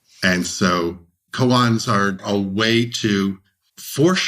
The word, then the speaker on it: koans: And I think of something called koans. Is that the right pronunciation of it?